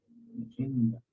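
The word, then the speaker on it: נחמיה: Porque se compone de la letra Het, no Hei. Estamos diciendo Nehemia con Hei. ¿No? Pero es con Het. O sea, que hacemos el acento en la Het.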